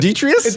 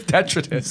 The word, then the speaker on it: detritus: He managed to convince you to mispronounce that word. What is it, Detrius? Detritus. Detritus? Oh, I like Detrius better.